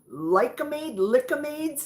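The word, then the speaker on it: Lik-M-Aid: Correct pronunciation from the candy days of my son. Lickamades.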